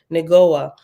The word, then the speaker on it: Negoah: And number 6 at the bottom says, Negoah is pronounced Neg, Neg-O-Ha, H-A-H, Negoah, and means brightness, as in brilliant light.